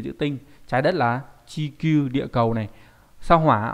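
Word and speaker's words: 地球: Trái đất là chikyuu địa cầu này.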